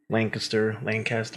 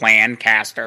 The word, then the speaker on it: Lancaster: Technically, you're supposed to say Lancaster, but I always go Lancaster. That's how I say it. Just Lancaster. I've heard people say Lancaster too.